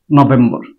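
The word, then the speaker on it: November: নভেম্বর নো নো ভেমবা বি এর উপরে stress চিহ্ন আছে সেজন্য নো বলার পর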